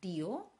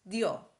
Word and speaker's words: dio: Vorsicht bei der Aussprache, die Betonung ist quasi auf dem O. Es ist nicht dio, es ist dio.